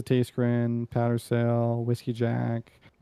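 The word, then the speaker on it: Tayschrenn: Um he pronounces taste grin powder sail whiskey jack buke piron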